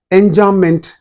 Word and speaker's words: enjambment: Be silent. All of you know pretty well that B is silent. Enjambment, that means striding over.